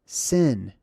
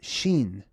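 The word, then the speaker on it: ש: Not a W, it's the letter SH, basically, okay? Some people couldn't pronounce SH, so to them it was the letter S. It was a S sound, but it originally is more of a sh sound, okay? This is Sin or Sheen.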